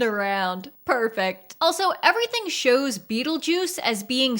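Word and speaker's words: Betelgeuse: Beetlejuice but we know the character's name is pronounced as Beetle Juice so my question is why is the title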